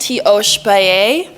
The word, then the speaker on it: Tiospaye: So, it's pronounced Teo Spaii.